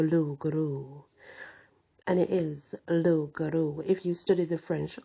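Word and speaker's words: loup-garou: Guru and it is low Guru if you study the French language and I have you do not pronounce the end bit that's why I think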